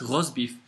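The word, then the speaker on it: rosbif: spelled completely differently but it's uh but it's pronounced Ros beef and the same for the word Bulldog Bulldog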